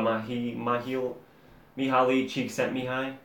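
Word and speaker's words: Mihály Csíkszentmihályi: So we talked about the book Flow by Mihaly Csikszentmihalyi. If you guys can't say his name, it's Mihaly Csikszentmihalyi.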